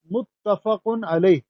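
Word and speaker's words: متفق علیہ: کوشش کرتے ہیں، تو لیکن اس کا جو صحیح تلفظ ہے وہ متفقن علیہ، متفقن علیہ۔ متفق اس میں مفعول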